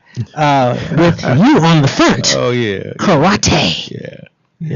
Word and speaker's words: karate: Karate. Yeah. Am I pronouncing that wrong? It's karate.